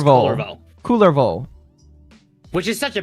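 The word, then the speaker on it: Kullervo: Calervo is one. Culliver. Thank you for proving my point. Cullervo. His name is Cullervo.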